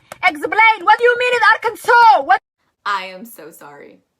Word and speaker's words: Arkansas: am so sorry uh the s at the end is silent unlike kansas but and then you're also going to pronounce that a after the k much um flow weir are can saw you're gonna actually go with the u sound the reason for this